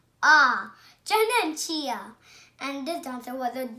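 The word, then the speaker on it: Janenschia: I'm going to tell you how to pronounce it. Janenchia. Janenchia.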